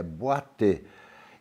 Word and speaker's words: Boiteux: E a Luciana tem um sobrenome em francês, que é Boité. Então, se escreve Boiteaux.